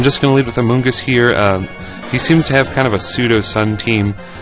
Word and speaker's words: Amoonguss: So Amoonguss is kind of a word that rhymes with blunt.